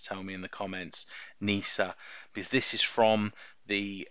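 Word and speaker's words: Kneesaa: I'm butchering that pronunciation I'm assuming it's a silent k so Wicket and Nisa and I think this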